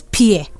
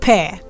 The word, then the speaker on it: pear: very sure of that most people pronounce this one as pierre or pia depending on the price of pronouncing but the right pronunciation of this word is pear the same way you say pair of jeans pair of scissors is always a pear